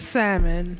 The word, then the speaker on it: salmon: It is salmon. No, it's the salmon. No, it's not. The it's L not is salmon. The it's L S A L M O N. The L is silent.